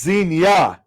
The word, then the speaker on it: Xenia: No, it's Xena, the Pickle Princess. No, it's Xenia. Thanks, Tom. Pronounced like Erie. Erie, Pennsylvania. Oh.